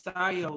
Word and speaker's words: scio: I just went to look up the pronunciation of the word SCIO, and it's SCIO, like Scientology.